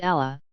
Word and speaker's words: Allah: problematic since asterisk a should be pronounced with A continuous sound as indicated by the small dagger all F above Tash did which in Arabic orthography gives a continuous a a sound to the word the accurate spelling of